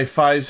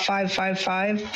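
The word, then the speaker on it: Faiz: know nothing about F aside from that it's pronounced F and not 555 but I think the way it works is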